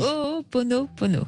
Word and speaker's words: Ho'oponopono: Alors Alexandre, aujourd'hui, on va s'intéresser à quelque chose de très particulier que je vous laisserai prononcer deux fois Non, si ça va. vous l'avez très bien dit. Le Ho'oponopono.